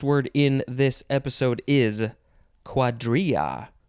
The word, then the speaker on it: cuadrilla: in this episode is quadria or quadrila if you want to put that l sound in there but that's not the right way to say it i mean it's a